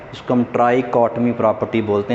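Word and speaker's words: trichotomy: ये इसकी प्रोनाउंसिएशन याद रखनी है, टफ है, इसको हम ट्राइकॉटमी प्रॉपर्टी बोलते हैं।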